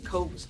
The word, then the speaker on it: Coase: The theorem we just look at, it's pronounced as Coase theorem.